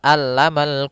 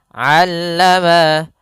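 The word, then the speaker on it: علم: Jangan sampai dibaca alamal quran, jangan pakai alif, jangan pakai hamzah. Tapi di sini huruf ain. A aa allama allamal quran.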